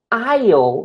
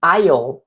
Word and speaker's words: aisle: Então, aisle, veja a pronúncia dessa palavra, não é aisle, e sim aisle, aisle, que é corredor. Aisle, é tipo island, sabe? Então é island, aisle, very good.